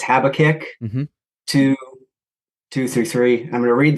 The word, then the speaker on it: Habakkuk: So, and I might mispronounce it, but it's Habakkuk 2:2-3.